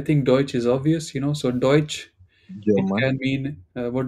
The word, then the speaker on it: Deutsch: Deutsche. Not Deutsche. Deutschland. No, no, no. It's Deutsch. Where do you see a at the end?